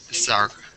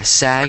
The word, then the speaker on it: SAG: isn't a word so it's s sag yeah sag yeah you could just say sag nominated is that how